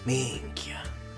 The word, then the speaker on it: Minchia: He said it exactly like a Sicilian would. He has a proper Sicilian accent when it comes to the way he pronounces it. Minchia.